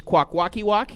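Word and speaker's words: Kwakwaka'wakw: Okay, I'm going to try out my pronunciations here because I've been practicing them over the last two days. Quackwalkiwok.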